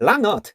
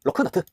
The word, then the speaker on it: 로크너트: 로크너트. 일본식 발음이죠. 락너트. 박스에 금속관 고정, 로크너트.